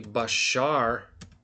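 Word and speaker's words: בשר: But so like if you look in so if we look in the sephr they're going to write it like this I think basura like this right but it's actually bashar which I'm going to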